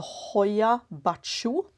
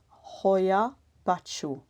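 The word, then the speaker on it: Hoia Baciu: the planet is often considered to be the Hoya bachu B uh it's it's spelled h o i a and then a new word b a c i u Hoya bachu forest in Romania again comments on my pronounciation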